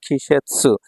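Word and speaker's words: 季節: Chinese উচ্চারণ। আর এখানে সেতসু পড়লেন দুইটা মিলে হয়ে গেল খিশেৎসু ঋতু ঠিক আছে এখান থেকে এই কাঞ্জিটা খুবই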